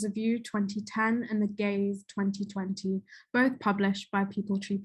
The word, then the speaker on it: Geez: saw the title um i pronounced it as geez as in geese geez but it is in fact the gays as in gays gays um in the